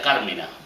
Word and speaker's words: Carmina: La Real Academia Española sugiere que a la palabra latina se le coloque la tilde.